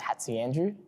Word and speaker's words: Hatziandreou: Last name's Hatziandreou, if you wanted pronunciation.